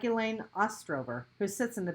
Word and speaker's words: Elaine: That's Elaine, I reply. Rhymes with pain.